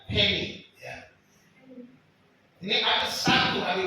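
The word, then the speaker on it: ἡμῖν: Ini artinya ada tanda pernapasan. Bacanya hemi.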